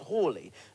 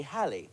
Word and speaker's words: Halley: we pronounce his name I'd always thought it was Haley as in Bill Haley and the Comets the pioneers of rock